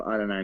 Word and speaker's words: Adonai: been taken yet there's that is not how you say that I don't know how you say it I mean if that it may be a Donnie but that is spelled Adonai like Jews so I guess I'll give them a Jew go Adonai Mitchell I'm Jewish by the